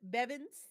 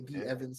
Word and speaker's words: B Evans: Bevins. Want to make sure this it's your boy B Evans. Some people call me Bevins. The matter if you say it right, as long as you say nice.